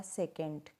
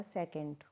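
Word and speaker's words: secant: तो सेक theta का क्या पढ़ा जाएगा, सेकेंड। क्या पढ़ा जाएगा, सेकेंड। और ऐसे ही आपका कोसेक थीटा को क्या बोलेंगे, कोसेकेंट। कोसेकेंट, है ना।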